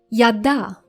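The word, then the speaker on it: ידע: Yada.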